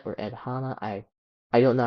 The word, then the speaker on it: Hanna: this guy named Ed Hanna or Ed Hanna, I I don't know how to pronounce his name, his last name, but it's h a n n a, so probably Hanna.